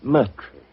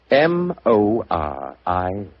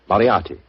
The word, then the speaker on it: Moriarty: My name is Murtry. Oh, indeed. Spelled M-U-R-T-R-Y? No. Dear me, I have so much trouble with my name. People will either misspell it or mispronounce it. I'm afraid I'll have to begin calling it the way it looks. M-O-R-I-A-R-T-Y. Moriarty. Moriarty.